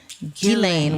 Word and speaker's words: Ghislaine: So it's French. It is Ghislaine. Ghislaine with a hard G. I think if you were really trying to speak it in French, it would be Ghislaine, but I think just saying Ghislaine for our purposes is fine.